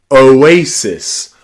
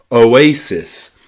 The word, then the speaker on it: oasis: This is the same in the word oasis. O one syllable, A the next syllable, and cis the final syllable. Oasis.